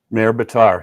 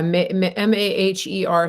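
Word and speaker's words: Maher Bitar: How do you pronounce it? Mayor Bitar, yeah. Yeah, Maher.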